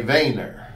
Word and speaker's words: Wehner: weight nerve and actually if you're truly dutch you would say vein their vein there but we say in the United States we say Wagner so W a Y any yard although it's spelled weh NER see all right there